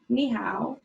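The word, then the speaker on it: 你好: Ni hao.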